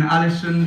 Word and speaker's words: Ålesund: stop from the beginning you grew up in ålesund or exactly the right pronunciation yeah and you made you a kind